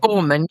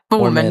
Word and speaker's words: Borman: Is that how you pronounce it? Borman. Yep. Borman. Yeah, Borman.